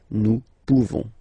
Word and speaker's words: pouvons: You don't pronounce the final S. Nous pouvons.